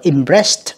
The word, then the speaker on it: impressed: Câu số 1 các bạn, nó đọc là impressed, âm tờ nha các bạn ha.